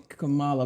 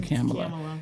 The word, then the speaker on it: Kamala: Is it Kamala or Kamala? I heard her correct someone and say it rhymes with Pamela. So we all say Kamala, but it's really Kamala.